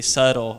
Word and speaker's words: subtle: Every single one of these letters is not pronounced at all. So I say critically, subtle, muscle, yacht, Wednesday, fifth, sign, herb, what, business. Literally almost every single letter in the English language, consonant and vowel, is not pronounced at all in some words.